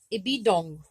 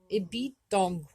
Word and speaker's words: ibidôgw: The root word for toothache is going to be ibidong. Ibidong. Ibidong. That W is silent or quiet, and I have trouble saying it.